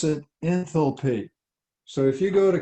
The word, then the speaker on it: enthalpy: how the sophisticated people pronounce it okay they pronounce it enthalpy so if you go to caltech or harvard they're going to call it enthalpy and so you'll know what they're talking about